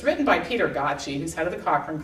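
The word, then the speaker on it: Gøtzsche: It's a technical book, and I know it's hard for a lot of people to get to, but it's written by Peter Gottsche, who's head of the Cochrane Collaboration.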